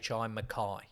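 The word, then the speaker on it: Mekhi: it okay Prince Junior now is m-e-k-h-i Makai Makai Pfeiffer would still open a tab on my oh Makai Pfeiffer m-e-k-h-i Makai Mick hi k-a-e-k-h-i Mech m-e-k-h-i Makai Makai Makai Pfeiffer Makai pahaifa no relation no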